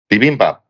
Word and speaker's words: bibimbap: Bibimbap. Bibimbap. Is that how you pronounce it?